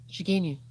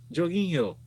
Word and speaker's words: Jorginho: In a statement from how do you pronounce this name? Jorginho. Jorginho.